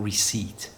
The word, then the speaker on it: receipt: But, you have to show your receipt. Listen to the pronunciation of that word again.